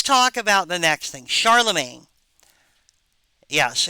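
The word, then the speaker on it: Charlemagne: that's a French word Charlamagne so uh it sound it looks weird it's not pronounced the way it looks uh it looks like it should be Charlotte Magny uh anyway and the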